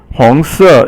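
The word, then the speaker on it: 红色: 红色红色 is second tone and then fourth tone.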